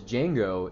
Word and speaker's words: Django: spells out his name, his D is silent. The guy that's next to him in the bar, that's the original Django.